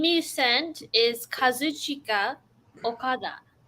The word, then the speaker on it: Kazuchika: The name you sent is Kazuchika Okada. Say his first name again. Kazuchika. Like that's how it's spelled. Kazuchika. Yeah. Like say it like if you were in Japan. Kazuchika.